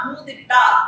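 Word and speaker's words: coup d'état: அதனுடைய முழு வார்த்தை பிரெஞ்சு வார்த்தை. மொத்தமாக சொல்லணும்னா கூதிட்டா அப்படின்னு அதை சொல்லணும் அப்படின்னு.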